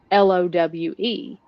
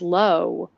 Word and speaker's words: Lowe: And so an example of that is the last name Lowe. You look elsewhere, it's low or lows. Around here, we say it low, like almost like cow.